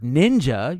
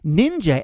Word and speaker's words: ninja: But since much of Japanese was adapted from Chinese, ninja ended up being the older, more Chinese pronunciation. The Japanese way of reading the same glyphs sounded out the word as shinobi, actually a shortened version